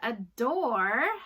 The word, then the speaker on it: adore: where to the wise the word adore has a long Oh sound with a silent e so it says mother